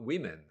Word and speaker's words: women: Day Men worship what women I learned I learned recently that you say women although it's a oh you don't pronounce it woman I don't know I